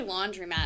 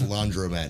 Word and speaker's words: laundromat: owned a laundromat or how do you say laundromat i always say laundry mat yeah i i got corrected like a few years ago that it's that it's laundromat not laundry yeah like i'm not doing